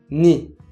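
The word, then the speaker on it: 너의: 너에, ça devient ni. Oui, on dit encore ni, même si là encore ça s'écrit avec la voyelle e.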